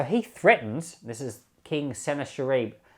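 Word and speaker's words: Sennacherib: is king senna sharif a lot of people pronounce it sanaka rib which to me just doesn't sound right to me snakarib it just sounds like you're guessing to me senator reeb looks right or sounds a bit more middle eastern i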